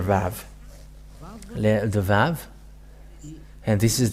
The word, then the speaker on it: Vav: So here is the letter Vav. The Vav. And this is the letter Vav.